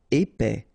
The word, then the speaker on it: épais: Épais, final S not pronounced, A-E together, épais, épais.